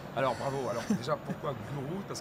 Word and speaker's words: guru: Cybergurou. Ça s'écrit guru. Voilà. Gourou.